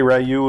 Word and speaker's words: Ryu: I believe it's pronounced Ryu that's how they pronounce it in the movie okay you can say rayu if if that's you